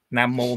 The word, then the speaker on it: nam mô: đà phật rồi đó nam mô mà quý vị để ý trong chữ hán con nó viết là nam vô nhưng mà đọc là nam mô đó thành ra cái